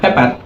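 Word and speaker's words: pepper: আবার যেটা মরিচ বলি যেমন পেপার, এই পেপারটা না, সেটার উচ্চারণ হবে পেপা, সেটার উচ্চারণ হবে পেপা।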